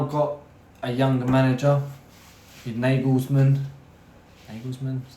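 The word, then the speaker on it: Nagelsmann: but they've now got a younger manager in nagles manman is how you say it um he done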